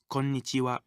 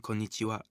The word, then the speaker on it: konnichiwa: If you find it difficult to remember this new word, try saying corn itchy wow quickly.